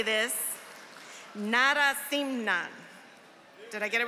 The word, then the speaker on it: Narasimhan: Narasimhan.